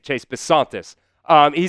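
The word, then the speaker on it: Bisontis: This was the pitch here from Pro Football Network on Chase Basantis. That's how you say it. Chase Basantis.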